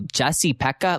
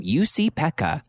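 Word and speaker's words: Jussi-Pekka: is going to go Jesse Pekka, like I hate that. So I had to write out like, how do you pronounce it? So I wrote UC, like YOUSEE, Peck.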